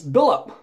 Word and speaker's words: Billlp: it's an eBay seller his name is b i l l LP which I pronounce billup this is his gold